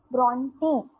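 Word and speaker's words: Brontë: Why this 2 dots are emphasizing on E, and that's why it pronounced as Bronte.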